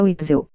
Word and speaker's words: Witzel: Witzel, pronuncia Witzel.